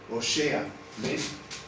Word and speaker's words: Oseas: del nombre de óseas en hebreo óseas se pronuncia o sea es el significado del nombre